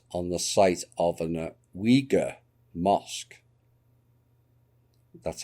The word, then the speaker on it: Uyghur: will be built on the site of an uyghur mosque that's how it's pronounced i'm saying but apparently it's wiga recently demolished by the chinese communist party in